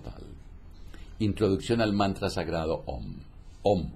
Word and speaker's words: Om: por excelencia lo constituye la sílaba aum es decir aquella que se pronuncia om hay que hacer resonar